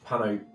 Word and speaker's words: Panope: I continue to feed Panope the good berries. If you Pano. called it Panope. Panope. Panope. Panope. Okay. Spell it.